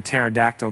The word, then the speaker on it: pterodactyl: now paleontologist favorite joke why can't you hear a pterodactyl go to the bathroom because the p is silent with that said thanks